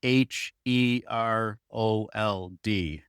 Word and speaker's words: Herold: And your last name spelled H E R O L D, right? Yeah. Yeah. Herald. Herald. Yeah, I think you pronounced it correctly.